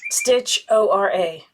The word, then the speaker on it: Stitchoria: Hadi, H-A-D-I, of Stitchoria, S-T-I-T-A, Stitch-O-R-A, Stitchora, I think is how you say that.